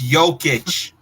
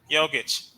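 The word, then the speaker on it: Jokić: It's Jokic. Jokic.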